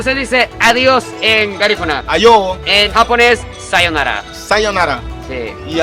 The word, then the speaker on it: ayo: Ayo, En japonés, sayonara.